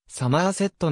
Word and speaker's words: Somerset: 面した海岸線である襲名はサマーセットのように発音する地元住民は濃厚なウェスト